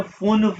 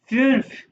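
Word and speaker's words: fünf: सवाए दए पिया और इसको आपने फुनफ नहीं कहना फुनफ नहीं फफ ठीक है और ये क्या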